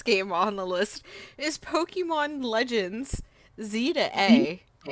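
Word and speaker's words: Pokémon Legends: Z-A: So, it's because the way you actually pronounce it is Pokemon Legends Z to A.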